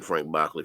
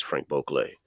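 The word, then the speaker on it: Franck Boclet: Cafe by Frank beauclay I know a lot of people say Frank bachlet I was saying Frank Buckley for a while until somebody corrected me so uh hey that's how you say it is Frank bokeley and um I have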